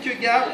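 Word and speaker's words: Kierkegaard: son ouvrage c'est intéressant je r kir Gard comme ça se prononce ainsi l'autre devient les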